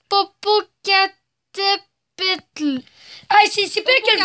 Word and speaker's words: Popocatépetl: Je vais essayer de le prononcer. Popocatépetl.